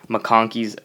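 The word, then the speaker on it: MacConkey: it on something called makoni augur okay and mongi is actually not how it's spelled I'm spelling it different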